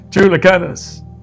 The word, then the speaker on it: Chulucanas: Chulucanas.